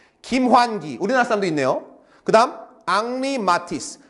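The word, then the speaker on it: Henri Matisse: 그다음 앙리마티스 이거는 헨리라 글지 않습니다. 프랑스 사람은 영국하고 아까도 했지만 언어가 터져서 영국에서는 헨리 프랑스에서는 앙리라고 발람합니다. 앙리마티스.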